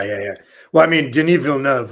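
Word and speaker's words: Denis Villeneuve: yeah well I mean genevil nov which is that's how you say his name by the way I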